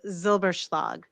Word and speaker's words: Zylbershlag: And then my last name is Zylbershlag.